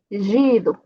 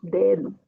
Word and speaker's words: dedo: Aqui, dedo, por exemplo, não tem no final de palavra átona. Então, não posso dizer gido. Tá? Não posso, só dedo.